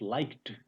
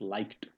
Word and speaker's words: liked: LIKD, it's liked. There is t in the end when we pronounce it. It's liked. It's not liked, it's liked, like watched, worked. So always t is coming when this has a voiceless consonant. S, P, K.